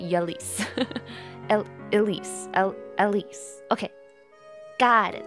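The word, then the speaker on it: Ylisse: is called the exalt Elis closer to Iris like the iris flower I always pronounce it yis Elise Elise okay got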